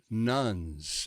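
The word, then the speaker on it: nones: are disproportionately represented among so-called nuns n-o-n-e-s that's atheist agnostics and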